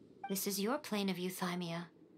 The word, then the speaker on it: Euthymia: again why now this is your plane of euthymia it's your inner world that's how you pronounce it can only mean that you are